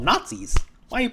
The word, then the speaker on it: Gnatzis: They're called Nazis. Why are you pronouncing like that? Because in this comic, they're called Nazis, as innat the bug. G N A T Z I S.